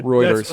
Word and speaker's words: Reuters: tax credits for production routers reported routers routers reuters reuters thank you i'm pulling a road are you pulling a ross right now r-e-u-t-e yeah reuters i don't i wasn't sure until i heard